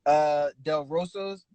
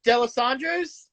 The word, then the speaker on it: D'Alessandro's: Del Rosa's, I think Del Rosa's. I think that's how you pronounce it. Del Rosa, one of those. Do you mean D'Alessandro's? D'Alessandro, there we go.